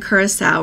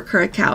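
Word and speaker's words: Curaçao: U Mazon Mexico and kurasa or kuraa I've heard it pronounced both ways but those flights are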